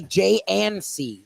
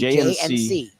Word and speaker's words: J & C: affair we just say J and C we won't we won't pronounce the d we'll make the D silent D quiet a quiet D jnc jnc that's what we'll